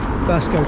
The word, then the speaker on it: Burscough: And we're going to go into uh, Burscough Burscough Junction that's how you say it.